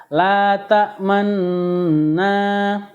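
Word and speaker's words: تأمنا: Bacaan ismam ini adalah bibir mencucu di tengah-tengah dengung sebagai isyarat bunyi dhammah ya.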